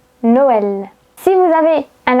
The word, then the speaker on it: Noël: Si vous avez un tréma sur le E, c'est-à-dire deux points, vous allez prononcer est, comme Noël.